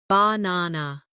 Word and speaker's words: banana: For example, in the word banana, the stress is on the second syllable, banana.